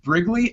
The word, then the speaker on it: Brigleague: His name is Joseph Brigleague. I pronounced that correct, right?